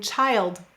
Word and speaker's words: child: And this rule also applies to I, as in child, wild.